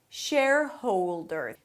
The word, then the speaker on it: shareholder: Shareholder. Think of it as if it has three parts. Share-howl-dr.